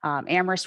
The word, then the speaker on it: Amherst: with our town before we do say amherst where only the h is silent we have an extremely